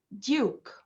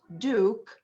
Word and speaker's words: duke: the british accent so this word has to be duke it's not duke as the american accent duke okay again kayla please